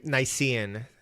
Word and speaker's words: Nicean: And To Helen was one of the poems that I read, and I had to look up how to pronounce Nicean. Nicean.